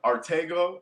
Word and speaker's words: Arttacgo: get a review uh artego on Instagram my name is spelled right there a r t t a c g o um the C is silent it's a Henny name